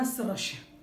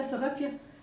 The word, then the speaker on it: Serratia: طيب تعالوا لاخر حاجه معانا النهارده اسمها السراشيا، تمام. الناس بتقول عليها سراتيا، بس هي ايه يعني الاصح ان هي سراشيا، وزي ما قلت